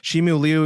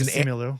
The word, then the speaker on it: Simu Liu: Shimu Liu is Simu Liu, or however you pronounce it. Yeah, it's Simu Liu.